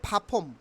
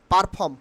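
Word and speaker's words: perform: উচ্চারণ হবে পপুলা পপুলা পপুলা পপুলা নট পারফ উচ্চারণ হবে ফাফম ফাফম ফাফম খুবই গুরুত্বপূর্ণ এই যে লাস্টের দুইটা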